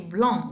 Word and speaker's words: blanc: Le papillon est blanc, without pronounce of C.